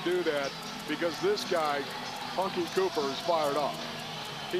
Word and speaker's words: Hunky: You know, you just, Hunky, it rhymes with Chunky.